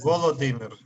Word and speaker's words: Володимир: Я Владимир. Это неправильно. Володимир. It doesn't matter, it's... It's Ukrainian.